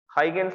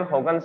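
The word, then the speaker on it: Huygens: हाइगेंस बोलते हैं, लेकिन मैंने आपको इसका प्रोनाउंसिएशन बताया था। प्रोनाउंसिएशन क्या था? That is हॉगन्स। हॉगन्स बोला जाता है।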